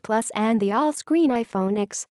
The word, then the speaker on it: iPhone X: pay $1,000 for the iPhone X on Tuesday Apple announced three new phones the iPhone 8 iPhone 8 plus and the all screen iPhone X pronounced 10 no we don't know